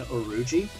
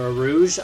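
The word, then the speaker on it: Urouge: Or Arouge. I don't really know how his name is supposed to be pronounced. I had to wiki it up to see it was Oruji, but I've always called him Arouge.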